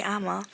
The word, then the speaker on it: Amma: But it's important to listen to someone when they do give you feedback, or they're like, "Oh, sorry, it's actually Amma," or like trying to correct you.